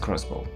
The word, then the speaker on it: X-Bow: its first ever car the ktm expo pronounced crossbow since then the xbox